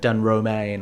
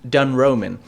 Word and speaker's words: Dun Roamin: kept on calling it Dun Romain or Dun Roamin. But apparently it's pronounced Dun Roman. It is a contraction of 2 words, dun and roaming.